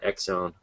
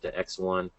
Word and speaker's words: ExOne: similar to uh X1 I guess that's how you pronounce it right it's not exone but X1 so you know may